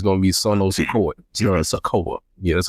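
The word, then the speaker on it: Sikoa: Nine times out of ten, the speculation is it's gonna be Sono Sako Sakoa. Yeah, that's how you pronounce his last name, which is another Samoan,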